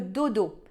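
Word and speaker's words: Dodow: Il s'appelle le Dodo. Alors Dodo, ça s'écrit D-O-D-O-W.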